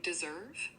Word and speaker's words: deserve: The Z sound is in the middle just like with dissolve. Here's a sample sentence. You deserve a break after working so hard.